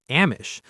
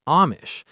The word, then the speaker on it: Amish: At first, I was pronouncing it Amish, but later I realized the correct pronunciation is Amish.